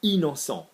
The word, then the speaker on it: innocent: I-double-N with a vowel, same thing, in. So innocent, I-double-N, innocent.